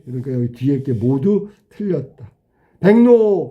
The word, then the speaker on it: 백로: 백노. 백로는 발음이 백노로 발음하는 거야. 뱅. 뱅크할 때 뱅. 노니까 이응 니은으로 바뀌었지. 앞에 니을과 니은이 모두 바뀌었어. 그러면 우리가 배운 대로 해 볼까?